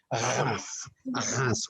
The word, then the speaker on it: Reims: That's how we pronounce Reims with and Champagne.